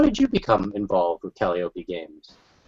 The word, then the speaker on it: Calliope: i consistently mispronounce everything how many folks mispronounce calliope you mean calliope yes number to say to syrup yes by kelly opie um so um sorry